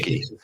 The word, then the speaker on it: Cay: Yeah, it's pronounced Key.